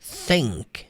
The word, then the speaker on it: think: Coloca a língua na ponta dos dentes e a sopra.